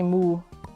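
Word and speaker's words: Muh: Sorry, sorry to be so boring, but it's literally moo. Yeah, German cows also go moo. You just spell it differently. It's m uh h, but they also do go moo.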